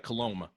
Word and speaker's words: Coulombe: last name is pronounced coloma just think like cologne but with an uh m got you on here